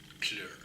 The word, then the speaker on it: kleur: Because if you have certain words, like they can say kleur, we say guller. We have 2 syllables for it. They have 1, kleur.